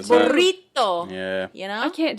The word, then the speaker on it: burrito: to pronounce things correctly it's not burrito burrito yeah you know I